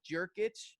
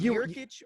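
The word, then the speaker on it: Jokić: It's a Y. I thought it was pronounced a J.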